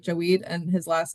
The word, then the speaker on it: Javed: phonetically it's like Jaweed, and his last name is Kaleem, Kaleem.